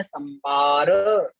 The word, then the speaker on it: संबर: यहाँ छोटा बा कर ले, संबार लिखा है उसको संबर कर ले, छोटा बा करना है उच्चारण। आसव, बंधर, संबर, निज्जर जाने किम बहुना। संबार लिखा है तो उसको संबर पढ़ के पढ़ना है।